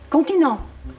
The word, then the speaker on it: comptine: Continent.